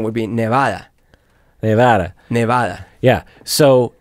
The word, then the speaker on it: Nevada: two that are related people who pronounce nevada wrong drives me bonkers do i pronounce it wrong let's see you mean like nevada that's wrong that's frank nevada nevada yeah i pronounce it wrong nevada so nevada you get an excuse because you speak spanish yeah and no but why because the the vowel would be ah nevada correct by the way